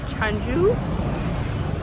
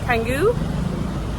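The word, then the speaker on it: Canggu: I keep saying it wrong, but Changu Kangu.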